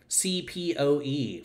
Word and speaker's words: CPOE: So I'm just going to tell y'all a really quick story about CPOE for all of you coming in here from American Football Analytics Twitter. I pronounce that CPO, completion percentage over expected.